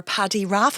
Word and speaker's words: Paddy Raff: And you are Paddy Raff. Am I pronouncing that correctly? Yeah, that's the same.